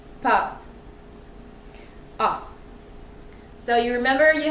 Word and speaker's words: pâte: to pronounce it, but it's kind of like A with your mouth a little bit closed. So it's A. This is a French word it means pasta, so it's pâte, pâte.